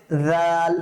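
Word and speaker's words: ذال: হবে ঠিক তেমনি ভাবে জাল নরম করে পড়বো জাল জিহ্বার আগাটা আমার দাঁতের মধ্যে লাগবে জাল জাল দাল জাল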